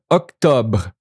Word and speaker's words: octobre: Pay attention to the br, Octobre, br, Octobre. Just a little br, not burr.